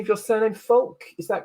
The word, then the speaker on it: Folque: So Maria, can you help me with the pronunciation of your surname, Folque?